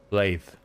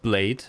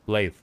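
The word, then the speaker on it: Blaidd: Yeah, the voice actor said it's pronounced blade. Nicht blade, like the vampire. No, blade.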